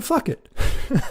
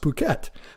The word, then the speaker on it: Phuket: And so I went to fuck it. Literally. I think it's actually pronounced Phuket. But about a year ago, I found myself in Thailand.